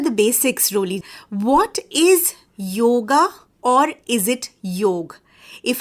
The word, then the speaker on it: yoga: And not just that, she is an avid yoga practitioner.